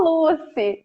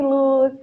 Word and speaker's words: Lucy: Não colocar a sílaba tônica no lugar errado. É só Lucy. Tá tudo certo. Pensa em Lucy in the sky with diamonds.